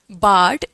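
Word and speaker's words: bard: बोल सकते हो राइटर हालांकि बाड का असली मीनिंग आर साइलेंट है बाढ बी ए आर डी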